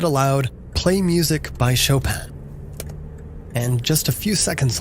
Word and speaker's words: Chopin: to do it again and really emphasize the name saying as phonetically as I could like show pan you don't have anything and then I did that a couple more times before I said it more like Chopin as in chopping wood